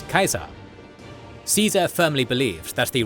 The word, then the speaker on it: Caesar: their Roman role models, with the title Caesar, for example, being pronounced as Kaiser.